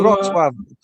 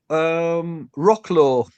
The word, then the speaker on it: Wrocław: How do you pronounce it? How do you? Wrocław, Wrocław, Wrocław, Breslau, Wrocław is where.